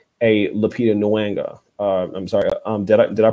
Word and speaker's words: Lupita Nyong'o: That's why it's so important when we see a Black woman like a Lupita Nyong'o. I'm sorry. Did I pronounce her name correctly?